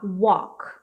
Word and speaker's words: walk: tá falando assim, ó, walk. Walk. Como é que eu posso representar isso aqui? Só um momento de pronúncia. Walk. Tipo, walk. Assim, ó. Não é um O fechado, é um O aberto.